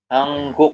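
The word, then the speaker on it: 한국: Yang ini menjadi Hangguk. Dibacanya hangguk.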